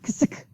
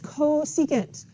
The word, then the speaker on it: cosecant: This is not ksik. It is cosecant.